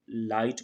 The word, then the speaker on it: light: है सेम तरीके से Light I के बाद ही अच्छा रहा है तो भी ढका साइलेंट है इसे हम लाइट पढ़ रहे हैं जिस नहीं पड़ते